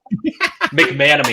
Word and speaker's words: McManamy: Sorry, I have difficulty to pronounce it. Almost So, got it right. McManamy. McManamy.